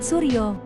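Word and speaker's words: Soerjo: Tulisannya pakai Jaan lama, tapi bacanya Taman Hutan Rakyat Suryo.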